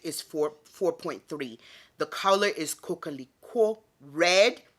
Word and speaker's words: coquelicot: So before we go any further, y'all, let me let you hear the pronunciation of the color of this bag so you can see how hard it is. Coquelicot. Bleuette de coquelicot.